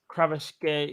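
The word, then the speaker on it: Kvaratskhelia: Was it Kravashkeli or something? No, shout out to Roms. Roms is the only one I know who can pronounce it properly. Here it is. Kravashkeli.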